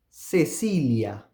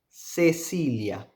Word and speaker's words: Cecilia: So the first one here, Cecilia. Cecilia. The 2 C's are pronounced with S.